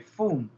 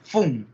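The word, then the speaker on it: Pfund: Que lleva una F, una P y luego la F, Fum. Parece que son nombres escandinavos que muchas veces es un apellido, pero no es difícil de pronunciar, solamente no pronuncian la P. ¿Ya? Fum.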